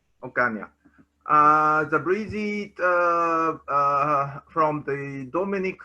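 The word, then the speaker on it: Ocaña: The next speaker is Breezy Ocan. My Yes. pronunciation is right? Yes. Breezy Ocan. Ocan.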